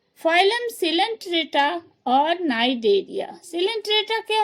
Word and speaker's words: Cnidaria: हाँ, फिर देखें इसका दूसरा नाम दिया गया है नाइडेरिया। दोनों सी से ही शुरू है, लेकिन यहाँ क्या है? नाइडेरिया। सी यहाँ क्या हो रहा है? साइलेंट है, सी नहीं बोलेंगे, नाइडेरिया।